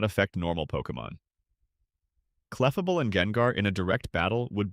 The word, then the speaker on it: Gengar: Gengar, pronounced like the first syllable of that word.